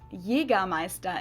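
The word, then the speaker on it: Jägermeister: so hunt hunt Master this is pronounced Jagermeister in German Jagermeister English speakers usually say Jagermeister which is pretty much the same just with a pretty thick accent and people also often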